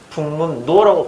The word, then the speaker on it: 북문로: 그러면 이름 하면 발음이 어떻게 되냐면 북문 노라고 발음돼요. 그죠? 북문 노라고 발음돼요.